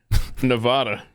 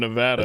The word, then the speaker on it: Nevada: drives pet nuts what whenever I say Nevada yeah instead of Nevada it does bug me